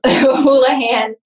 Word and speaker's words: Houlahan: because I have that it's holahan and interestingly my my last name is spelled untraditionally it's h u l a an.